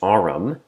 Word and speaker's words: AREM: AREM was later revealed to be pronounced AREM, as in RM, initials for Robert Mitchell.